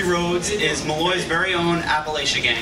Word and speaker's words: Appalachia: Appalachia project and appal Appalachia Appalachia that's how they pronounce it there um is a project